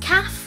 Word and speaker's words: QA;FE: best to answer them and why is it pronounced calf when it's spelled qaf II it's pronounced calf